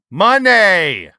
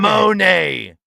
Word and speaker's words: Moné: Money. It's not Monet.